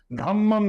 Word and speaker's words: धम्म: क्योंकि पाली भाषा में रेप का उच्चारण नहीं होता। धर्म को धम्म कहते हैं।